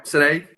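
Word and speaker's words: Sanaig: He's asking about sherry casks that are used in this, but taking it right back, Senaig, am I pronouncing it right? Yeah, Senaig, correct.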